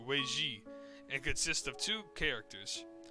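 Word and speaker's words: 危机: That outcome is reflected in the Chinese written character translated as crisis, which is pronounced Weiji, and consists of two characters.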